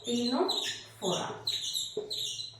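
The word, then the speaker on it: Ctenophora: silent रहता है तो ट से टिश्यू ट से टीनो फोरा ठीक है लेकिन हम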